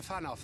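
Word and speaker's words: Fanow: but has returned to fanoff then and discuss the coming Expedition oh okay I know that's pronounced fan off yeah silly me of course the W is an F I it just it's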